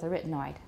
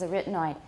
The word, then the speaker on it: arytenoid: starting and i saw some discussion on the pronunciation of arytenoid and my conclusion is we're sticking with arytenoid however they say one of the pronunciations is arytenoid honestly in my memory that's the only way i've ever heard it pronounced in videos and in